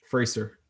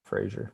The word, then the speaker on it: Frazier: That's not Frazier. That's Fraser. Fraser. But it's pronounced Frazier, so you never know.